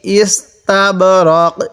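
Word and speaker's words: إستبرق: মিন ইস্তাবরক, এই নুন সাকিনের মধ্যে গুণনা করব না।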